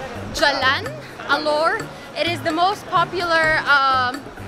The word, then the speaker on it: Jalan Alor: yeah I kept eating halal or but apparently in Malaysia they do pronounce the G so it's Jalan Alor it is the most